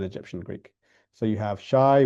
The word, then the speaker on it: shai: So you have shai which is pronounced as sh fi which is pronounced as fu.